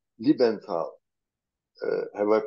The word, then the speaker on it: Liebenthal: dear Earth mates we are visiting libenthal uh have I pronounced your then correctly it's correct hello Earth